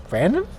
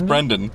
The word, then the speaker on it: Brendan: Brendan Fraser? No, try again. Brandon? No, it is Brendan. You're getting Brendan right.